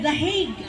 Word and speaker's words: The Hague: The Hague ang pagka-pronounce ana.